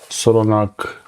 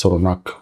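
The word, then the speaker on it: Solognac: This is a Solognag, I always say it wrong here, Solognag with G at the end, it's Solognag with C.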